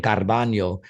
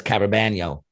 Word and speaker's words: Carabaño: It's funny because I say his name Carbaño and he says Carabaño.